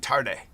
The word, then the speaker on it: Tade: to Nigeria with Kemi Tarde. So Kemi, you can go to her LinkedIn profile, Kemi. Last name is Tade, which is pronounced Tarde.